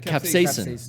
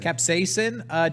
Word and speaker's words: capsaicin: to s space sin is that how you pronounce it capsaicin capsaicin don't eat this but that's actually not an